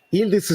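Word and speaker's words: Yıldız: Yildiz si legge non pronunciando le I, ma al posto delle I c'è un suono sordo come un colpo di gola.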